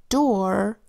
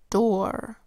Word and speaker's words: door: here's the other exception when double O comes before our o our makes the same sound as oor which is or for example door floor and pour are all spelled with o o are that says or let's write these words down